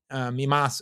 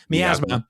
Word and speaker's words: miasma: Now this film uh the teenage sex and death at camp uh mimas I always say it wrong miasma sorry uh this film teenage